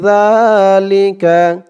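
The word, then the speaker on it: ذَٰلِكَ: আর জালের আওয়াজটা কিন্তু একদম নরম পাতলা হবে, জিব্বার মাথা ওপরের দাঁতের মাথার সাথে লাগবে জালের উচ্চারণ করার সময়। মিম বাদি যালিকা যালিকা মিম বাদি যালিকা।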